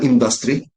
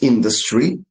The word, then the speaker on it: industry: The word you can say later is not uh industry it's industry.